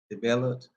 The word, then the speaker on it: DeBellotte: DeBellotte.